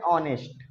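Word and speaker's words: honest: गलती है है ना हमको लगेगा कि ये एच तो वावेल नहीं है इसलिए ए से स्टार्ट करेंगे गलत बात हम एच को देख के नहीं पढ़ रहे हैं हम साउंड पे जा रहे हैं किस पे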